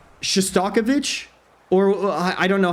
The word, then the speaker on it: Shostakovich: Shostakovich, that's how you pronounce it.